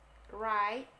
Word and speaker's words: write: Write, W-nya nggak usah dibaca.